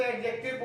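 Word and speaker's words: adjective: तो बचपन छोटी सी चीज ध्यान रखिएगा, लेटर ए और लेटर जे, इसके बीच में जब भी डी आएगा तो डी साइलेंट हो जाएगा। आप उसको प्रोनाउंस नहीं करेंगे।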